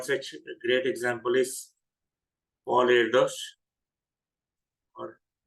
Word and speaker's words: Erdős: So one such great example is Paul Erdos, or pronunciation is different, Paul Erdős.